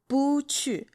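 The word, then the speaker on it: 不去: So cui, and then Bùqù. It's technically speaking, bu is the fourth tone, but when it's followed by another fourth tone, it turns to the second tone. So you're going to go Bùqù.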